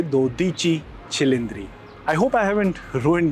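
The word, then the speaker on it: Dodici Cilindri: अगर आप 12 सिलडर्स इटालियन में बोलेंगे तो उसको आप प्रोनाउंस करेंगे दोची छिलिंद्री।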